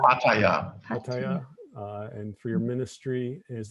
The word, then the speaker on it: Pattaya: Pattaya.